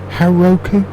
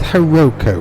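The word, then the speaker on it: Hauroko: only ever written that down before I never pronounced it so Heroku yeah we now head south to we now had to South heroko well that's near enough um where the village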